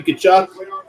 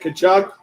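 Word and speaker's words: Tkachuk: Matthew Kachchuck. Not exactly how it's spelled the way you think it is.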